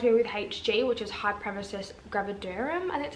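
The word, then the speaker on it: hyperemesis gravidarum: my doctor diagnosed me with hg which is high premises gravidarum and that's how you say it um which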